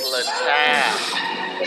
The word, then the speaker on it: Littal: It's Littal.